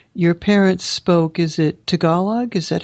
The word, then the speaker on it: Tagalog: Is it Tagalog? Is that how you pronounce Tagalog, yes, Tagalog.